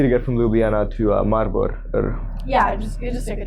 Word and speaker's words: Maribor: Sounds like Marlboro but it's actually a city. Mari-bor is how you say it Yeah.